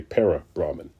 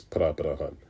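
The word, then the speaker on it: परब्रह्मन्: People may say para-Brahman, right? But if you're using Sanskrit, if you're trying to use Sanskrit terminology, it's Pra-Brahman. I'm saying it wrong, but it's the best I can do with my English language.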